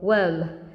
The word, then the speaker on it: worm: Ok, từ này mình đọc là worm. Nó khác với cái từ chết rồi, lại giải thích rồi. Ok, không sao, nói luôn. Cái từ ấm ấy, ấm mình đọc là gì nhỉ? Warm. Ok, warm. It's warm. That's the difference.